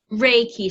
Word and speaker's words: Reiki: Reiki. So think of like Ray and then Ki.